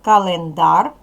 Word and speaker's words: календар: з вами в словничок скільки складів у цьому слові який склад наголошений третій склад наголошений бо на нього падає наголос перший склад к